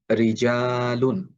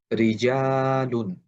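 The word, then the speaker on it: رِجَالٌ: র হরফের নিচে যখন জের থাকে তখন র হরফটা পাতলা করে উচ্চারণ করতে হয়। যেমন রিজালুন যেমন রিজালুন।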